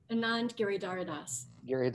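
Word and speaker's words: Anand Giridharadas: by anon and jira hadas is how you pronounce this say it again anand gary daradas i i i i've been missing a syllable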